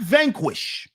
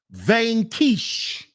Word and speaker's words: Vanquish: is the Aston Martin vanish not Vanquish it's pronounced vanish my favorite car my